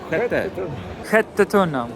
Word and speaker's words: Sjätte Tunnan: How do you pronounce that again? Skattetunnan? Skattetunnan.